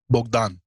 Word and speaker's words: Bogdan: great to have you you have to pronounce it in the true Romanian way which is bdan did I did I